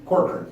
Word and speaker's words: Corkrean: Corkrean.